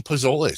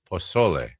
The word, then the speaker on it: pozole: and we'll be making pozole tonight. Don't say it like that. Is it pozole? No. Pozole. How am I supposed to... Don't put so much emphasis on the Z.